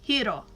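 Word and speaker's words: Hiro: in Big Hero 6 the only character that pronounces our main character's name correctly is honeylemon she says hero when everybody goes else goes hero and because it's a Japanese name it she's right it's hero where you DOD that's what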